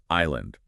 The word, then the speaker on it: island: the old English word island. So, they just changed the spelling to be fancy. Pretty much the pronunciation never actually changed, but the spelling did.